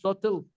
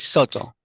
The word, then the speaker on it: Soto: Soto, S-O-T-O. I said, what's your Soto. last name? Soto. Sotel? Okay. It's Soto.